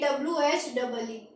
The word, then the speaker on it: oui: उसके बाद OUI, इसको साउंड देंगे WHEE।